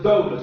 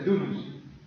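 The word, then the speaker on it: δοῦλος: En griego es dulos y se pronuncia dulos.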